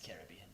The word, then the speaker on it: Caribbean: Caribbean's incorrect. It's Caribbean. It's a pronunciation thing.